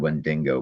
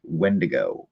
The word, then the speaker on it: wendigo: ] pronounce that right I always said wend dingo but it's not there's no n in the end of it's when to go when to go I